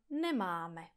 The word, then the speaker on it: nemáme: Že neříkáte nemáme, ale nemám.